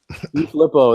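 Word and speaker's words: DeFilippo: helps because I think I always say his name wrong. Coach Deflip. Help him out, JR. JR, help him out. Oh, I say it wrong. Just call him JDF. JDF. Filippo. Filippo, there it is.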